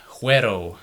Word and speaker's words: Güero: Now, moving on, we have Güero, or Güero, as some people like to pronounce it.